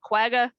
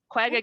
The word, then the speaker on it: quagga: the what is that axia i can't even pronounce that a quagga yep quagga get back there right so you're hurting you